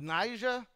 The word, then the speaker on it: Niger: Barnabus, Simeon called Niger. Got to be careful not to use the hard g there.